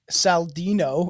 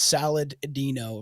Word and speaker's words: Saladino: Frank Trent Saldino, it's Saladino, literally, who played the camp counselor, had to step in when other cast members took things too far.